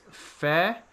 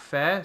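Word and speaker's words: Fehr: I think it's Fair, F-E-H-R, Fair.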